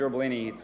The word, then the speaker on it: Gerbolini: I just wanted to tell you real quick, I'm going to be Sergeant Gerbolini. It's gerbil like the little kangaroo rat with an "ini" at the end. That's how you pronounce that.